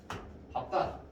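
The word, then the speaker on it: 밟다: 그런데 비읍으로 나는 경우가 딱 한 경우밖에 없어. 뭐가 있지? 네. 리을 비읍. 밥다. 이 밥다일 경우에만 비읍으로 가는 거예요. 요것만 기억하면 되겠죠? 나머지는 싹 다 리을이에요. 얘 하나만 기억하면 돼. 밥다, 밥다, 밥다야. 밝다가 아니라, 밝다가 아니라 밥다가 됩니다.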